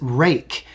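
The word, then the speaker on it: Ruike: I really thought was interesting and this is rake it's spelled r UI ke e and I picked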